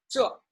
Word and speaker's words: 这: So this in Chinese is 这, 这, falling tone, quite firm, sounds a little bit harsh or rude, you may say. But that's the Chinese pronunciation, 这.